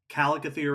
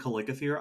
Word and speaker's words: Chalicothere: Also, for the listeners out there, Chalicothere and Calicothere, I've heard both pronunciations. Yes. Yeah. We will probably waver back and forth. Yeah, my default is Calicothere because that's how I learned it, and both make sense.